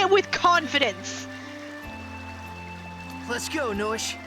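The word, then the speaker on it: Noishe: Let's go, Noish. It's time to regenerate the world. Noish. That's how we say it, Noish.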